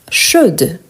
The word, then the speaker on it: chaude: donc on a chaud chaude vous avez remarqué la prononciation chaud je ne prononce pas le D chaude je prononce le D les e à la